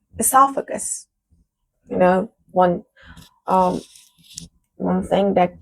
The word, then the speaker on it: esophagus: I don't know if I pronounced that correctly. We say it like this at university in Iran. Esophagus. Let me check the pronunciation. I pronounced that incorrectly. Esophagus.